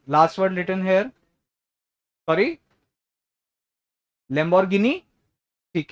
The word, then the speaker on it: Lamborghini: Anyone hair जिसको यहाँ पे लगता हो ये लास्ट वर्ड लिखा है लंबरगिनी? नहीं हो सकता है ना, मतलब लंबरगिनी चलाई. किसको लगता है लास्ट वर्ड लिखा है लंबरगिनी? लैम्बोर्गिनी.